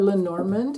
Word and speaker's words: Lenormand: I'm using the Golden Dreams Lenormand, or Lenormand, if you want to pronounce it that way.